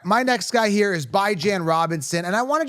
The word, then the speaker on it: Bijan: It's bi as in bi-weekly.